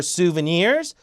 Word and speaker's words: souvenirs: get some gifts or souvenirs suven 끝에 강세 기념품 souvenirs souvenirs bu some GI 요건